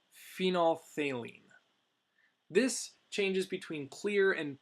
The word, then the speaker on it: phenolphthalein: is known as phenolphthalein it's a long word a lot of letters there that is pronounced phenolphthalein this changes between clear